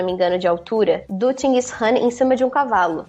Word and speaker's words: Chinggis Khan: Bom, você estava comentando agora do Gengis Khan. Aqui, a pronúncia local seria Chinggis Khan. Chinggis Khan.